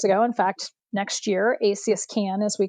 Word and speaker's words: ACS CAN: So, it's ACS CAN, not ASCAN.